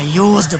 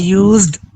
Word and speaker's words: used: अच्छा, यूज्ड पूरा लफ्ज बोला करो, ड की आवाज है, यूज्ड, ठीक है, ताकि हमें क्लियर हो।